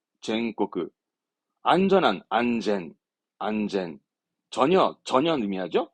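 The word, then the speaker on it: 安全: 안전한 안젠, 안젠.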